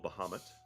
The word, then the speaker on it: Bahamut: Holy symbol of Bahamut. Bahamut. Kind of red Bahamut? crystal. They're like Bahamas, but with a T at the end.